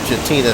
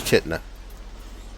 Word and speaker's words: Chitina: headed on into chitna we pronounced it shatina several times until we learned the name of it was chitna so we came down